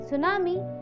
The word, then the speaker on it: tsunami: In tsunami, the T is silent, and tsunami are a series of high waves that are caused due to undersea earthquake of volcanic eruption.